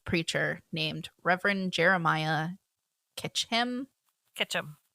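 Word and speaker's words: Ketcham: welcome so Jeremiah K Ketchum Ketchum I almost it's spelled so different it is it is it's k t c h a m yeah um dying to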